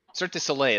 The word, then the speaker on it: Cirque du Soleil: Cirque du Soleil, that's right, that's how you say it.